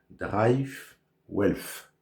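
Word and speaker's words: DriveWealth: Alors ce courtier américain s'appelle Drive Wealth. Excusez ma prononciation désastreuse.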